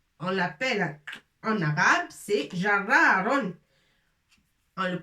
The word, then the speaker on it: جرار: Alors, on l'appelle en arabe, c'est jarraron. On le prononce comme ça, jarraron. بالعربية يسمى جرار.